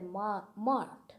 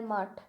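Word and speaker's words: math: There were 700 monks in their mott. Okay, in Bengali pronunciation it is mott, and I suppose it will be pronounced like mutt. So let's repeat this sentence. There were 700 monks in their mutt.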